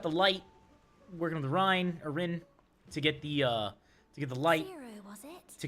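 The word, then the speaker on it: Ryne: Let's see, we just got the light, working with the Rin to get the light. Zero, was it? To continue. My name is Reen. Reen. Okay, that's how you pronounce it.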